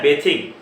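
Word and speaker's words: bathing: और जब बाथ verb बनती है तो उसका नाम होता है बेथिंग बोलते हैं। इसकी प्रोनाउंसिएशन क्या है? बेथिंग, ये बेथिंग, ध्यान रखना है, बाथिंग नहीं है।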